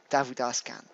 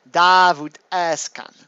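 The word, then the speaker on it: Davut Özkan: that it's actually pronounced da would ask that's how you pronounce it in his language which is Turkish and that's fine turkey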